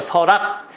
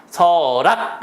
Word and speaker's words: 설악: 설악 할 때는요 보세요 설악도 받침이 발음은 어떻게 돼요 서락 서락 이 되죠 그러니까 얘도 R이 되는